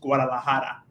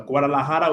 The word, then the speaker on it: Guadalajara: hear then also like to say properly was Guadalajara so Guadalajara was because I had like uh the uh